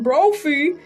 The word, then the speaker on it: Brophy: She is also headed to trial with California man named Kevin Brophy, rhymes with trophy, who is suing the rapper for $5 million.